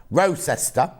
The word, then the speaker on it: Rochester: beautiful hair here in rochester uh hang on pronounce like rowing your boat ancestor rose ester uh are you still